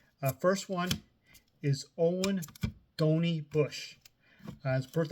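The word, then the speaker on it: Donie: got named dony Bush it's not Donnie it's dony uh you look at the baseball reference the nicknames and bio it says spells out phonetically dony I have two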